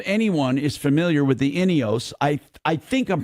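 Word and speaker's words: Ineos: to know if anyone is familiar with the inos I I think I'm pronouncing it properly inos inos inos it's I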